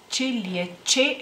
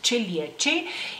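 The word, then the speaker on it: čiliečiai: Luego, en masculino, en plural, chilietes, chilieche, perdón, chilieche, en masculino, en plural, es chilieche.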